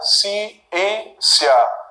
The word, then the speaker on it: ciência: Ciência. Série. Palácio. Tiago. Sílaba tônica, penúltima.